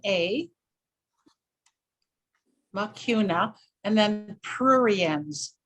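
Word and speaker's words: Mucuna: don't I'm not familiar with that could you spell it please okay it's m u c u n a makuna and then prurians p r u r i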